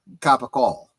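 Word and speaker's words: capicola: I'm thinking of gabou Gaba goul which is a mispronunciation of caol which is uh a type of lunch meat I was just thinking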